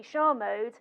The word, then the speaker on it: Charmode: richard and he says because it's a french-inspired name it should be shar mode but because it's an